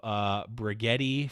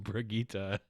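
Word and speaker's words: Brigitte: the dawn of the outlaws are coming the mispronouncing of bruh Getti for a whole week and let's let's add that we got mark Vaughn la mole coming into our discord and being like it's actually pronounced brigita which which spot a lot of people were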